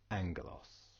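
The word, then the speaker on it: ἄγγελος: this word aalos but because we've got the gamma nasal in play here turns the first gamma to an end sound and is pronounced angos now let's just go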